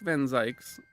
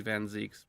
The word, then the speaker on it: van Zieks: Fun fact, Baroque Van Zyk's, I know it's, if I'm actually pronouncing German, it'd be Van Zieks, but Zyk's rhymes with yikes.